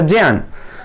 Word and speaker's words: ज्ञान: यहां उन्होंने संन्यास लिया और बाद में मथुरा जाकर के प्रज्ञा चक्षुषः, प्रज्ञा मतलब होता है ज्ञान, जिसे हम लोग ज्ञान बोल लेते हैं सही उच्चारण होगा उसका ज्ञान।